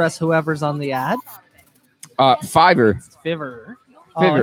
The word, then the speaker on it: Fiverr: Fiverr. Fiverr. Oh, Fiverr. it's Fiverr.